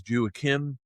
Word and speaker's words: Joaquím: because I did practice with him how to pronounce his uh first name, which is Jakim Royo. Uh, I love it. Yes, Jacquim Royo.